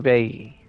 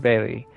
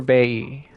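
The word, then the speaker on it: Bailly: I should be I I don't think that I should be pronouncing the L Y. Mossio Bay. I think L Y is E. So, I think like I need to stop saying Monsur Bailey. Monsure Bay.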